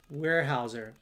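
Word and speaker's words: Weyerhaeuser: Now going back to where we were uh Novo Wy is pronounced warehouser.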